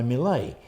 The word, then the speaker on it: Millet: And to me, that just shouted out a classical painting that I knew that coincidentally is by Millet. It's spelt exactly the same way as millet.